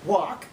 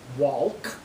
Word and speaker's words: walk: For instance, you don't pronounce the L inside of the word walk. You don't say walk or talk.